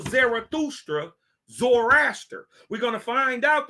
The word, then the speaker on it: Zarathustra: name also called zerusta the t is pronounced like ta like the like the